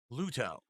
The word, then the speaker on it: Luto: It's going to be the conclusion of Luto, a game that's a psychological. Just say Ludo, Phil. Just say that. You don't have to pronounce the T heavily.